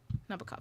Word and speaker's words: Nabokov: Nabokov, is that how you say his name? I've never said his name. A day in my life. Nabokov, yeah, Vladimir.